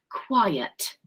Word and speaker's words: quiet: And H is quiet. Okay. Quiet. Notice the pronunciation of this word here. It's got 2 syllables.